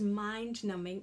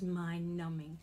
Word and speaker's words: mind-numbing: So if I'm reading a book and it was mind-numbing, my brain is frozen and can't think. It's so boring, I'm not here. So that's really bad to say it was mind-numbing and the B is silent.